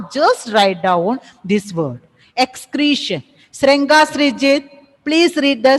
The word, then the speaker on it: excretion: Excretion, not excreation. See, when you are pronouncing it as excretion, A should be there, isn't it? Is there any A is there in the spelling? No, ma'am. No, ma'am. No. So, what it is? Excretion. Okay? Excretion. Excretion. Creation. Don't pronounce it as creation. A is not present.